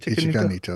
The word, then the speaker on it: Ichika Nito: Ichika Nito? Is that how you say it? Ichika Nito, yeah.